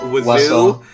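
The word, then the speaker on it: oiseau: I believe it is the French word for bird which is waso which does not have a single one of those letters in it yeah it's it's pronounceable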